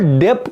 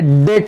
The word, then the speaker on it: debt: उसको डेप्ट नहीं पढ़ते, हाँ बहुत बच्चे इसको डेप्ट पढ़ते हैं, DEBT, ये बी साइलेंट है, समझे, डेट है, क्या डेट, ओके आगे।